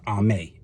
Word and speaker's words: Amy: You can work with Vini, and then you can work with one I connected with just recently, and that's Ame, or it's spelled like Amy, A-M-Y.